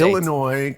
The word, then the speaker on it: Illinois: The Illinois Comic Con. You don't pronounce the S on the end. How long have you lived in the United States? Illinois ComicCon.